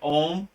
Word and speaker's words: Om: how you pronounce it om that that looks like o om but it's really om right some people spell